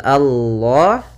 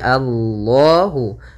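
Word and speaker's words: الله: besar Kemudian pada lafal Allah di sini lam tafhim lamnya harus dibaca dengan tebal bukan Alla tapi Allahu yaitu pada lafal Allah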